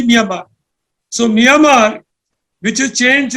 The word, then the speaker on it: Myanmar: now now become myamar now we call it Myanmar but it's actually myamar so myamar which is